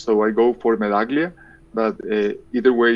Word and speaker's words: Medaglia: prefer medaglia itself or medallia like in italian anand it's it's just um i i normally pronounce it as it sounds in spanish so i go for melaglia but either way it's